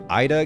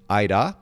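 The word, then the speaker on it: Aira: It's spelled A-I-R-A, Aida. Huh. So with the R is rolled, but it sounds very similar to your name.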